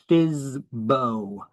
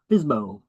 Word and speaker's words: FSBO: That's how we pronounce it. FSBO. FSBO.